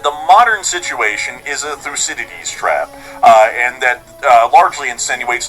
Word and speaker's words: Thucydides: theories and stuff like that, but it's the Thucydides trap, I believe is how it's said, I think. I'm pretty sure that's the way you say it, I think. I think it's the Thucydides trap or something like that.